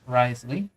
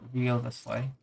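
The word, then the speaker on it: Wriothesley: Then we have some of the newer 5 stars, which is Nubia and Risley, as some people also call him Rio the Slay, or Rio, as they can't pronounce his name.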